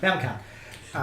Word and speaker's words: Famicom: It's a 2D action platformer for the Nintendo Entertainment System and the Famicom in Japan. I'm pronouncing that right? Yeah, Famicom.